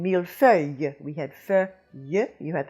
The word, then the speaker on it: millefeuille: Now, that iyuh comes from ille, and we have had several words like this in the hard words, which indicates that it's something that confuses non-French speakers. We had it, for example, a while back in millefeuille.